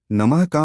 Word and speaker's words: क्रीं: कृ से लोग इसे गलत बोलते हैं जैसे क्रीम या क्रीम इसका सही उच्चारण है कृ अंत में नाक से अनुस्वार की ध्वनि आनी चाहिए जैसे गुंजन की आवाज होती है कालिकाय इसे कालिकाएं न